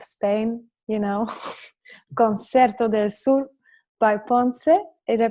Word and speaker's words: Ponce: It's this beautiful kind of repertoire reminding me of the south of Spain, Concerto del Sur by Ponce. Did I pronounce it correctly?